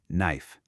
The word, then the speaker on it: knife: The K is completely silent. We just say knife.